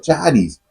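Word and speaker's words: χάρις: La gracia de Dios, que en el griego significa charis, o se pronuncia charis, implica un favor que produce gozo.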